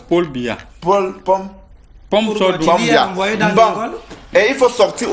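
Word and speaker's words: Paul Biya: Ce n'est pas Pombia. C'est Paul Bia.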